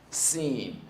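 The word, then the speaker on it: سين: Scene.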